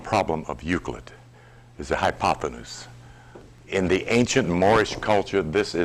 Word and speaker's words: hypotenuse: Hypotenuse. It used to be called by me hypotensus.